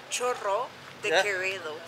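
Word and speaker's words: Chorro de Quevedo: I'm in an area called, what was it again, Churro de Quevedo, is that how you say it? Churro de Quevedo, with double R. You can do it. I can't pronounce the double R's, so yeah.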